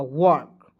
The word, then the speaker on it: work: WORK, देखिए W से वह, आर को यहाँ पे दोस्तों देखिए छोड़ दीजिए, के का क लिखिए, आर को रेप लगा देंगे और वह है, इसका उच्चारण औ के रूप में करेंगे, हो जाएगा वर्क।